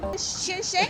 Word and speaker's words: Sichuan: How do you pronounce that? I was practicing that all day here, What coming the, here. That's Sichuan. Sichuan? Oh, Sichuan.